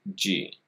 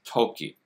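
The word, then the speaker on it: 時: side tells us that one of the pronunciations is G in fact that's the own reading the kun reading is Toki but when following other characters it's often dokey I do like my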